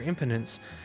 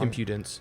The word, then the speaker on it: impudence: I won't tolerate your impotence uh impotent I'm pronouncing that wrong impudence impudence you should know better than